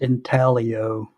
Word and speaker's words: intaglio: If it's pronounced intaglio, then why is the G in there? Never heard of a silent G.